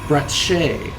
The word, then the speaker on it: Bratsche: brat brat br br I actually like the pronounce Bret Shay so if I can